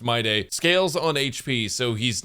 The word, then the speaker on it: Mydei: My day, pronounced mighty by the English dub of the game, but should definitely be pronounced my day, scales on HP, so